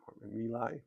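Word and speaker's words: My Lai: Um Milai Malay Malay is how it's usually pronounced.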